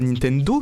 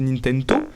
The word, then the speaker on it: Nintento: Il est super ton documentaire Camille, mais il y a pas de D en Tokyona. Du coup, c'est pas Nintendo, c'est Nintendo.